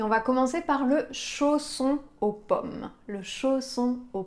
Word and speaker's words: chausson: son encore une fois ici on a les lettres S qui sont entre deux voyelles dans ce cas-là on va avoir un double S pour avoir le son ce dans le mot qu'on